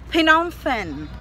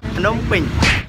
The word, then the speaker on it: Phnom Penh: Yun daw yung ka-pronounce. Phnom Penh. Phnom Penh.